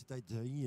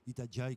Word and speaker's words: Itajaí: Nous allons retrouver dans quelques instants Ben Wright, puisque le mât est bien arrivé à Itajaí, puisqu'on prononce Itajaí et non Itajaí, comme je le disais tout à l'heure.